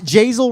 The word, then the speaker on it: Jazel: say the name right it's Jazel rhymes with hazel I was talking about